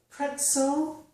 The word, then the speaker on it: pretzel: However, if the letter Z follows the letter T in a word, so we have T plus the letter Z, we usually get the S sound, as in the words pretzel and hurts. So the Z's here are not making a Z, they are making a S.